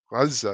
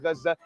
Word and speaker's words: Gaza: Gaza. It's so stupid. By the way, does anybody know why they produce it as Gaza and not Gaza? Because there's no ga in Arabic.